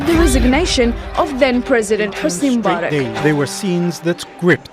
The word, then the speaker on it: Mubarak: On that date, the people made their voices heard by demanding President Mubarak to stay. That's not how you say his name, it's Mubarak.